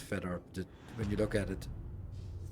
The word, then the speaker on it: Fedor: You have no idea that it's supposed to be pronounced Fedor when you look at it. Fotor.